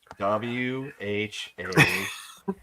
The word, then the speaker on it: Joaquin: Oh, I think Joaquin's a cool name.